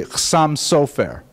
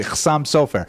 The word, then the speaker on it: Chasam Sofer: But the Ashkenazi pronunciation tends to be on the first syllable. It would be Chasam Sofer.